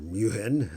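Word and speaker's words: München: was stuttgart but no d is munich or muhin as the germans would pronounce it but this is f for stuttgart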